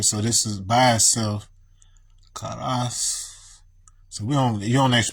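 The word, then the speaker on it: カラス: But it should actually be pronounced something more like Klas, because they make their U silent when it's like that. Kalas, like this.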